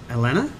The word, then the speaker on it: Allanah: We have Allanah. That's right. You got the pronunciation right.